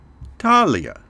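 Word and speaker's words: Thalia: of Dance is the muse of sacred poetry Talia is the muse of Comedy urania is the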